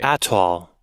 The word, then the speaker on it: atoll: think are pronounced a certain way aren't actually pronounced that way. Atoll.